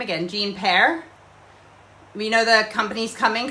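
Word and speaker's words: Paré: Yeah, is that how yes, Jean Pear, is that how I pronounce it? Is it Pear? P-A-R-E? Yes.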